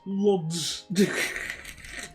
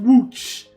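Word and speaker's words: Łódź: We're just on our way to building towards Lods. I'm just I think I'm just going to deliberately call it Lods. Like, I know it's pronounced WooC, but I think I'm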